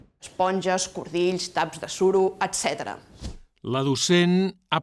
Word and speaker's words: etc.: L'ha pronunciada amb S sorda. En registres informals, en canvi, etc. se sol dir amb S sonora, etc.